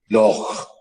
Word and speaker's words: loch: Similarly, H, L-O-C-H, is the Scottish word for lake, L-A-K-E. And they still pronounce it as loch. Okay, that guttural sound that you just heard.